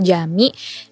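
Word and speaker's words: Camii: Ya, tapi kita ini di Jami, Tokyo Jami. Kita bacanya Jami ya? Jami. Iya Jami. Jami ya.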